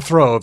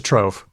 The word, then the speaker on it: trove: it's not a it's it's not a throve it's a trove so you're okay you're